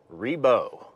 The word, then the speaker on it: Ribault: So there's your history lesson, and it sounds like the final answer is Ree-beau.